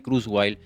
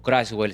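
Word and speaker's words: Kurzweil: fue directivo de Google, Ray Cruwell o Crashwell, según lo que quieran pronunciado en alemán o en inglés.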